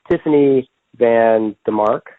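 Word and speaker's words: Tiffany VanDemark: Then 2006, he decides he's going to marry Tiffany Van DeMark, is how you pronounce her name, and he's married to her until 2009.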